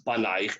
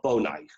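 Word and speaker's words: בֹּנָיִךְ: Don't pronounce it your sons, banaich, ella bonaich.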